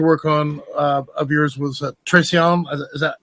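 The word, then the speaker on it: Traición: I got to work on of yours was traon is that how you pronounce it yeah Tron perfect okay okay got that one good one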